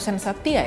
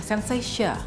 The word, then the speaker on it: Sensatia: soapess facial cleanser nah sensasia botanicals ini atau sensatia ya bacanya sensasia Ya gitu deh pokoknya